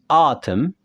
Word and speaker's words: autumn: Lalu A dan U, autumn. N-nya kita hilangkan.